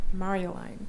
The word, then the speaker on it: Marjolaine: So Trinity Center, and Marjolaine is, actually it's not pronounced correctly, is it? It's Marjolaine.